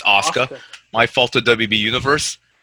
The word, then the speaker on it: Asuka: It's spelled Asuka, so it's pronouncing it Asuka. It's Asuka. My fault to WB Universe. I look like a fool right now, but it was spelled Asuka, but it's pronounced Asuka. I was pronouncing Asuka.